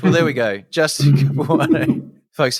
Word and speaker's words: Capuano: founders of LSAT Engine, Justin how do I pronounce this? Capuano? Capuano, yeah, you got it. Capuano.